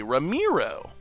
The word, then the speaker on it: Ramiro: The Mai in Romero is pronounced with an E like me. Ramiro.